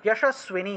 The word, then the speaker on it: যশস্বিনী: রক্ষেত যশস্বিতা, যশস্বিনী, যশস্বিনী, এখানে যশ ছিল, যশ থাকায় উচ্চারণ হবে যশ, যশ, যশস্বিনী দন্তস্বরের নিচে বফলা ছিল, ঠিক আছে, তাহলে স্বিনী উচ্চারণ হবে, ভ্রুবৌ রক্ষেত যশস্বিনী।